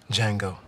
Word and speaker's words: Django: he what's your name Django the D is silent